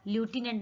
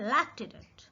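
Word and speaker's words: lieutenant: ल्यूटिनेंट, बट ल्यूटिनेंट नहीं है, ये है लेफ्टिनेंट।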